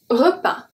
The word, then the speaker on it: repas: Repas, repas. De S at the end is silent.